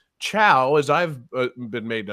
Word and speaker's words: Chao: And then I realized, I'm like, no, you're saying Chow, as I've been made to understand it, but cow. That's Well, because it's spelled similar to chaos without the S, right?